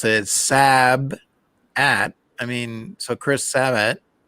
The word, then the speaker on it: Sabat: just want certain ones is that like Chris sabat or whatever savage or whatever his name is sabat is Vegeta Savage Savage it's sabat I'm conf you know